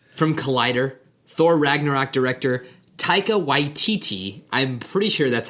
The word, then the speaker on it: Taika Waititi: From Collider, Thor Ragnarok director Taika Waititi, I'm pretty sure that's how you pronounce that name.